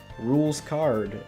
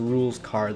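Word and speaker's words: Rouxls Kaard: i pronounced wrong is rules card uh it's spelled very weirdly it's spelled r o u l x s k a a r d and i think i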